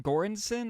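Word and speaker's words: Göransson: Gorensson I believe is how you say the name.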